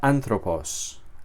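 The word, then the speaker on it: ἄνθρωπος: Entonces, aquí esta palabra se pronuncia antropos. Antropos con el golpe de voz sobre esta primera vocal.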